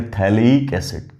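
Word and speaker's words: phthalic acid: PH silent है तब बोलेंगे थैलेइक एसिड।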